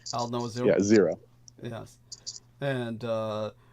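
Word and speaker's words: Aldnoah.Zero: n o a h Al like the old Noah like the old Noah zero right Al no zero yeah zero yes and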